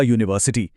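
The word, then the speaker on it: university: लिखा तो यू से है, लेकिन जब हम इसे बोलते हैं तो पहली आवाज़ य की निकलती है। यह एक कॉन्सोनेंट साउंड है, इसलिए हम कहेंगे अ यूनिवर्सिटी।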